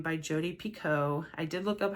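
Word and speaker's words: Jodi Picoult: and she corrected and said her name is Jodie Pico this one is about two women centuries apart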